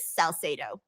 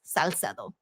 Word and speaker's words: Salcedo: Uh, a lot of people don't know how to say my last name, but it's pronounc the way I pronounce it is Saledo. And again, the Spanish version is Saledo.